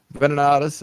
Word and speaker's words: Venenatus: pronounce it. Venenatus.